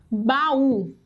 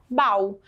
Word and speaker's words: baú: três exceções vamos lá pessoal e a palavra baú recebe a senha se eu não colocar sua assento como é que ficaria a pronúncia desta palavra bal e não baú mas o weffort eu vou